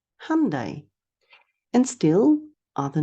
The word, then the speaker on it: Hyundai: If you're wondering, it rhymes with Sunday, Hyundai.